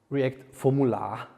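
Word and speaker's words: react-formula: bound form forms actually you have to pronunciate it like react formula so it sounds a little bit more Viennese it's it's it's a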